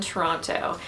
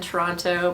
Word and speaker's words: Toronto: I now live in Toronto and you can tell I didn't grow up in Toronto by the way I pronounce it because anyone who lives in Toronto doesn't call it Toronto they call it Toronto